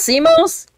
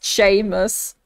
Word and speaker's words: Seamus: if you name is simos comment down below comment down below if your name is Seamus Sheamus no way that's pronounced chamus what it's Irish I'm done I'm done